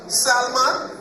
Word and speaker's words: salmon: I want high salmon. salmon. So the L is silent now.